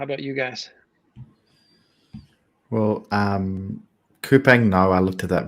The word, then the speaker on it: Coupang: Is it Coupang? That's how I was told it was pronounced. I've never pronounced it that way, so there you go. I'll take your word for it. Coupang, the Amazon of Korea. It's probably Coupon, but who knows? Our anglicized pronunciation of it.